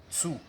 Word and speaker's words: two: d'autres qui disent tout, la prononciation c'est pas tout ici, c'est tsu.